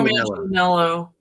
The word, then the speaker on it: Manganiello: type is Laurie, forgive me, I'm going to mispronounce his name, Joe Manganiello. Joe Manganiello.